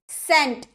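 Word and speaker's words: scent: एस के बाद अगर आपका सी आए ना तो वो साइलेंट रहता है। सेंट।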